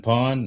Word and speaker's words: Pwned: I've been pawned. I think, Have I Been Pawned? That it doesn't, it's spelled weird, PWNED, but that actually is